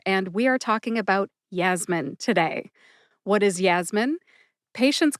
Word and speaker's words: Yasmin: Yasmin has two syllables. They are Yas, like jazz, jazz music, and min, like the word minute. Put both syllables together and you get Yasmin. Emphasize Yas. See if you can hear that emphasis when I say it again.